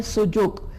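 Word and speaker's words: Su Jok: सुजोक, इसका correct pronunciation है सुजोक।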